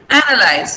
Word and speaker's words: analyze: This is analyze. So the stress is on here. Okay. The stress should be here before the first syllable. Lice. Though we have E here, we don't pronounce it.